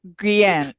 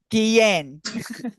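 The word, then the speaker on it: Guillem: Is Guillen. Guillen. Yeah. The double L is like a Y.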